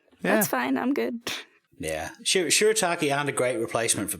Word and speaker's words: shirataki: And I had some, I have no idea how to say this word, shirataki. Is that how you say it? Yeah, that's That's right. it. Oh, Yeah, okay. shirataki. I had some shirataki noodles and Alfredo.